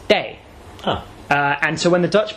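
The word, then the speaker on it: 茶: In Minanhua, the pronunciation of this character that means tea is day.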